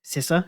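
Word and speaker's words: Sessa: that's exactly the same for Dominic C S sisa as well that's how to pronounce yeah for his first role he was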